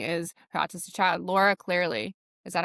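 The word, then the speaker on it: Clery: her book and now I'm like, oh, and now her journey is her autistic child, Laura Clearly. Is that how you say it? Yes. I Laura love Cleary.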